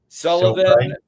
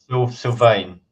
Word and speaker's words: Sylvain: which we have, which I'm going to say his name wrong. I always do, but Sullivan. Sylvain.